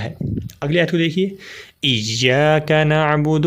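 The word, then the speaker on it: إِيَّاكَ: سکتی ہے، وہ ہے ایاک۔ اس کے ہجے کر لیں، حمزہ یا زیر ای، یا الف زبر یا، یا کاف زبر کا، ایاک۔ باقی الفاظ آسان ہیں،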